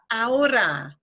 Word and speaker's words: ahora: And because we spell it with an H, with an H. Yes. Want to pronounce that. Because your brain in English is telling you, say this, and this is like this H problem of pronouncing the H is a problem that probably 80% of people who speak Spanish have this issue.